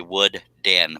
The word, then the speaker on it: Wooden: It's actually Wood Den, but it says all together.